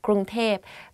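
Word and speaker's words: กรุงเทพ: people talk about bangkok they will say grunter because like conversation wise it's easier to to pronounce like that grunge tape but a longer name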